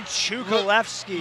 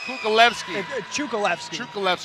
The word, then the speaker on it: Cukalevski: to be a war right here gentlemen chukolevsky luis melendez versus kukulevsky sorry i made sure i got the pronunciation from him because i'm so i'm picky